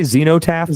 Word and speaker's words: Xenotap: new album Zenotap. Am I pronouncing that right? We we we say Xenotap, but it's whatever. It's a madeup word, so you can't go wrong.